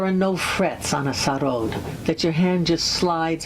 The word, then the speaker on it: sarod: And I really love Indian music, particularly the charod. I pronounce it in the Bengali mode because I learned to play it when I was living in Calcutta.